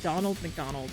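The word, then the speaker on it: ドナルド・マクドナルド: about Japanese is that Ronald McDonald is pronounced as Donald McDonald because Ronald is too hard to pronounce I didn't know that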